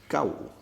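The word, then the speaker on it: 九: I have put down the pronunciation for the word is gao. And the tone for this is a combination of fa, so, and la, like this.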